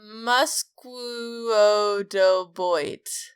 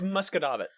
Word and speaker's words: Musquodoboit: And Musquodoboit. Absolutely not. Musquodoboit. Nope. Close. Muscodoboit? It's Muscadabbit. What the fuck? Yeah. Muscadabbit. No, I don't believe you. There's an I in there. Yep. That is how you pronounce Can we move on from Nova Scotia?